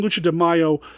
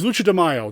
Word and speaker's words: Lucha de Mayo: it wrong i said i was saying mayo again and i wasn't saying mayo it's lucha de mayo that's happening next month